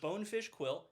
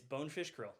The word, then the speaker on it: Bonefish Grill: It's Bonefish Quill. It's Bonefish Grill.